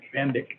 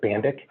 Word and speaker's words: Van Dyke: okay variance uh 22-03 van dyke is that how you say it bandic thank you hi everybody i'm uh bandik and i am uh